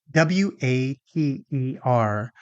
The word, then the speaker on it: water: So, why do Americans pronounce the word w a t e r like water? As if there was no t in the word at all.